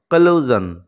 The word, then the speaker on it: collusion: এই শব্দের উচ্চারণ হলো কলুজন, কলুজন, এখানে দেখো জ্বর মতো সাউন্ড পাচ্ছি।